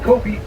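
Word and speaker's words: kopje: To the right there, that's the habitat we call Kopi. J is silent.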